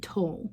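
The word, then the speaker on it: tole: We're going to say toll, and we spell that T-O-L-E, and we're going to say it just like this.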